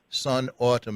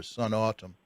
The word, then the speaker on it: Snatam: you pronounce an autumn I hope it's a Sun autumn as Sun and autumn like the time of year Sun autumn but yes so I